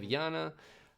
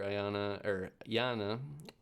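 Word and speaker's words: Iana: We have Yana, who is an attacker, and then Oryx, who is the defender. Yana, I guess as it's pronounced.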